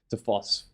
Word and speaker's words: Foss: Foss, is it Foss? Why do I keep saying his name wrong?